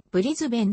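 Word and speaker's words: Brisbane: 有数の世界都市オーストラリア英語での発音はブリズベンではがここでは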